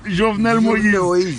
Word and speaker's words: Jovenel Moïse: And his name is Jovenel Moïse. Jovenel Moïse.